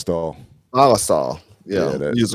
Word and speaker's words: Ballistol: How you Oh, pronounce it? Ballistol.